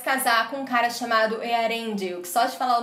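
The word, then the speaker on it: Eärendil: com um cara chamado earendil que só de falar o nome me arrepio e só ontem eu descobri que se pronuncia é a Índia e não é alendil mas com Brasileiro de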